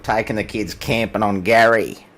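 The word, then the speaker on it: K'gari: lot of people um it has officially had a name changed to Gary so silent k Gary not Gary as some of my fellow countrymen refer to it you know you you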